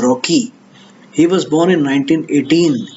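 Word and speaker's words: Rokeach: Some people pronounce it Milton Rockich also, but it's a Jewish name, and I found out that the correct pronunciation is Rocky.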